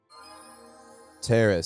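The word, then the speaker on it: Taris: We need to find a way off Terrace. Terrace. So, okay. So, it's officially pronounced terrace according to Bastila and her British accent.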